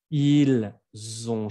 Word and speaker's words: ils ont: Si no vibra, es que no lo pronuncian bien. El sonido z es el mismo sonido que la S, pero tiene que vibrar. S, no vibra, z, vibra.